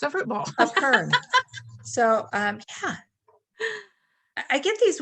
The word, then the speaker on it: epergne: Epergne. Epergne, but it's spelled E-P-E-R-G-N-E.